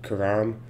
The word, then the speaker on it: Karam: Karam, that's how I was told to pronounce the name.